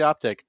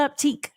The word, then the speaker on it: Optiq: Then if they're going to put a Q, they should call it Optiq. Like, just go with it. It's probably too French.